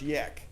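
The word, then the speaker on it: Jech: a problem and it's he spell it je CH pronounced yak senator yeah uh and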